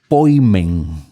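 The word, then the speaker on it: ποιμήν: se refiere a pastor a ese poimen que es como en griego se pronunciaría nosotros vemos que ese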